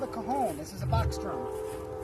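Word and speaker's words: cajón: It's my big cajon. It's actually it's written like Cajun, Yeah. but it's pronounced cajon.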